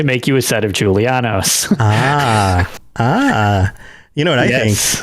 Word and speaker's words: Julianos: up so here we go giulianis os julia giuliano's i'm gonna mispronounce it right at the beginning nailed it already problematic nailed it julianos aedric god of wisdom and logic is one